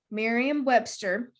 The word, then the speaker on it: Merriam-Webster: Merriam-Webster. Merriam-Webster.